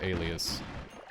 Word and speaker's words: alias: alias or alias it's it's pronounced like the word alias it's it's just a